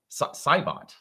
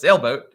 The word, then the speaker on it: Saibot: So, I totally did read your name wrong, Sir Saibot. Saibot. But yeah, I totally read it as Sailboat, which is not really all that close.